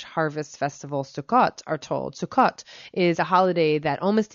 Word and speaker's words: Sukkot: to the jewish harvest festival sukkot are told sukhot is a holiday that almost immediately follows yom